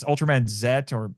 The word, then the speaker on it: Z: with It's Ultram Man Zet or just looks like a Z, but it's supposed to be pronounced Zet.